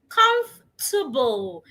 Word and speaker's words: comfortable: Comf- The O and R are silent. Ignore them. Comfortable. Same with the last E. So, the word also has three syllables instead of four syllables.